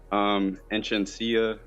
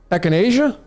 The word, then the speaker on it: echinacea: Enchantia root. Echinacea? Yeah, I'm sorry. That's okay. I've been calling it the wrong name. That's okay. That's not the wrong one. It's just your pronunciation of it.